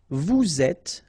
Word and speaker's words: vous êtes: Nous sommes, final S not pronounced, vous êtes, little liaison to be between the two and then final S not pronounced, ils sont, final T not pronounced, elles sont.